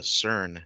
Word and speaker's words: CERN: relatively easier to pronounce so we went with the cern comics c-e-r-n like the super collider right and uh so